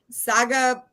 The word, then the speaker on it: Sagapolutele: And it's Sagapolutele. It's kind of like Tagovailoa.